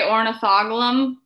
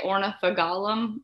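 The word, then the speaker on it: Ornithogalum: h o g l i say ornithoglum other people say ornitha gollum i think it just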